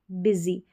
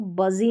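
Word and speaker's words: busy: तो सनी रेनी lucky funny और बिजी बिजी। अब इसको बजी नहीं पढ़ना है। बिजी पढ़ना है।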